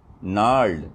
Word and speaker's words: gnarled: Gnarled, although it starts with a G, it is pronounced gnarled.